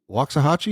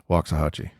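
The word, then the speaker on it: Waxahachie: southern Assemblies of God University the Lions uh wachi is that right yes sir wah I pronounced it right I saw it it's there's an X in there wachi I'm still sagu is that that's it yeah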